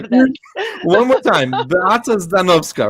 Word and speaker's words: Beata Zdanowska: Beata Zdanowska, right?